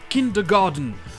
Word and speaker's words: kindergarten: D'ailleurs, vous l'entendrez souvent prononcer kindergarten, avec un son de. Parce que l'anglais américain transforme souvent les T en D, et parce que ça ressemble simplement à garden, un jardin.